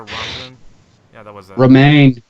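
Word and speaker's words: Romijn: Romaine. Romaine. That's how it's pronounced.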